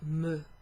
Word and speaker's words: me: it would be pronounced me. Remember the letter E is pronounced like that. So a letter E is called E, and it's pronounced in the same way as the letter's called.